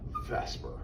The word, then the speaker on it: VSEPR: well that brings us to what we call Vesper always mispronounced always sounds like you're spelling the word